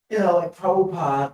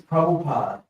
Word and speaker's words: Prabhupada: Well, both spellings are correct. Like Prabhupada or Prabhupada. Everybody says Prabhupada. Yeah. But it's actually spelled, if you look at it, it's spelled Prabhupada. Yeah. Pada means feet, but pada. They just drop the A off the end.